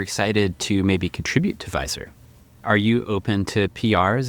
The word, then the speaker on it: Visor: And funny story about the name Visor. Um so it's Visor, v i s o r, but I I wanted that to be how you pronounce VSR, which is view stamp replication.